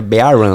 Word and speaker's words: BRON: A pronúncia que é é B run, né? BR.